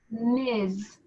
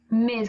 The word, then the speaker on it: Ms: ms this is pronounced miz miz because so it's kind of got like a z sound liz and that's for